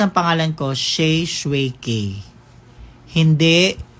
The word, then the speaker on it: Shae Shue K: tsaka ano mapaano ba sa name mo yung pagpronounce ng pangalan ko sh shuki hindi Sha Suzuki hindi mali yan kulang lang ahung yung may